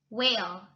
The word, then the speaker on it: whale: Whale, whale. The H is silent.